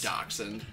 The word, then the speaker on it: dachshund: a or a dachshund adoption adoption however you pronounce that it's dachshund if anybody wants to fight me in the